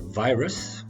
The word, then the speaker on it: virus: We had the word virus. Note the stress on the first syllable.